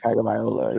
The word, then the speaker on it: Tagovailoa: I can pronounce it properly. It's Tua Tagovailoa, I think. Tagovailoa, yes.